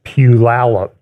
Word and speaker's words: Puyallup: By the way, next Sunday, I will be speaking at Renewed Life Church in a town in the Seattle area, which phonetically is Puyallup, Puyallup.